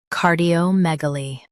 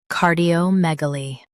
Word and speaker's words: cardiomegaly: car di o meg uh li cardiomegaly Stress meg and keep uh light. car di o meg uh li cardiomegaly Stress meg and keep uh light. car di o meg uh li cardiomegaly Stress meg and keep uh light.